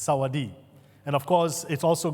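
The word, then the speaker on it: สวัสดี: word In tha for for hello is Saadi Saadi the S is silent there so it's Saadi and of course it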